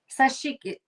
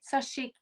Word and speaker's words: sashiko: Known for his intricate patchwork garments inspired by the traditional sashiki sewing technique. Did I say it right? Sashiko? Sa- Sashiko. Sashiko. Yeah. Yes, correct.